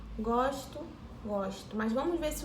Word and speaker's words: gosto: Gosto, ó. G-O-S-T-O. A palavra é idêntica. Mesma escrita. Porém, a pronúncia é diferente. Vamos ver. Eu gosto e meu gosto.